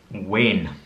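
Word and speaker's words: wean: In Scotland, it's wane. Now there's a couple of ways to spell it.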